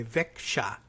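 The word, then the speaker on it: Växjö: Carlson went to high school VA xjo is apparently pronounced Vic qua like that Vic qua although apparently I'm told that in northern Sweden they might say Vic shot and put a sound in there for the jailer Vic qua Vic qua is my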